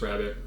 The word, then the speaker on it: Rarebit: Even when it's spelled Rarebit, I think it's still pronounced rabbit. I don't know.